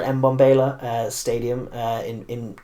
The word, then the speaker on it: Mbombela: i'm going to be it's bombayla i always get slagged off by south africans in the comments section for how badly i've pronounced their stuff bombayla i guess or mbombela uh stadium uh in